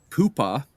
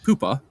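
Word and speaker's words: Pohpha: points per game, but read reading his uh pronunciation guide here. Poopa is his first name and his last name is Warner.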